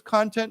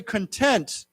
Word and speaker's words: content: that word remember again here's another word we pronounce differently if we say content what does that mean satisfied right i feel very content right now but if you say this is very good content then it means ney wrong okay so